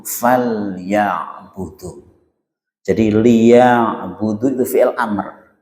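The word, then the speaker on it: فَلْيَعْبُدُوا: Ini kalau misalnya diurai fa terus liya'budu faus liya'budu kalau diurai. Tapi ketika bacanya harus disambung falya'budu.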